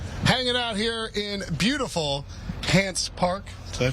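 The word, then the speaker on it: Hance Park: Will Brinson, Ryan Wilson, John Breech, Tyler Sullivan, hanging out here in beautiful Hants Park, Did I pronounce it right?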